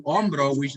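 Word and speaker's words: hombro: when it comes to omro we see an H at the beginning so remember H is silent that's what we say omro we don't say hro okay there's no no no just om okay the other thing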